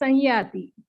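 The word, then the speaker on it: संयाति: But in PDF, we have given some. The letter was some, Samyati. But we will pronounce it as Sanyati.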